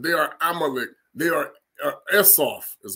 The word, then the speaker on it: Esau: They are Esau, is how they say it. First of all, the Phoenicians are the ones that were saying it, Esau. We said Esway. That's really how you say his name, Esway.